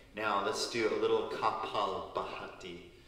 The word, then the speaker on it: Kapalabhati: Now let's do a little Kapalabhati, which is the Sanskrit word K-A-P-A-L, Kapal, B-H-A-T-I, Bhati.